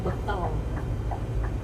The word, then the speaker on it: bengkel: Tapi yang penulisannya sama tapi pengucapannya beda itu adalah bekel. Padahal itu tulisannya bengkel.